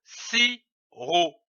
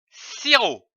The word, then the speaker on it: sirop: L'association de ces deux syllabes donne le mot sirop. On ne prononce pas le P, comme ici du sirop.